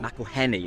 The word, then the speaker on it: McElhenny: I spell it. Say his Rob name. McElhenny. Yeah. McElhenny, that's it.